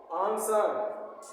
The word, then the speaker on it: answer: ANSWER, इसमें W silent है। आंसर, आंसर, आंसर means उत्तर।